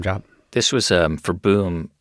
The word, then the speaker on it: boom: did not realize that boom which is how you pronounce boom in Dutch means tree so right